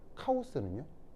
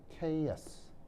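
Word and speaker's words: chaos: 케이스라는 말 들어봤어요 아니요 카오스는 아 들어왔어 카 예 그러니까 케인데 이거를 일본식으로 발음하면 카오스 그래서 이제 그 뭐냐면 그 그거의 형용사형 어 케이오틱 모션 아시겠죠음 카오스가 아니고요 케이어스 알겠죠 카스 아니 틀렸어 예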